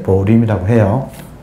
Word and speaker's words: 보림: 보호, 임지, 줄여서 보림, 보임인데 발음을 이제 보림이라고 해요.